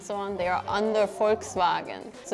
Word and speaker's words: Volkswagen: more like that and the V sounds like a w to me so Volkswagen in German it's POR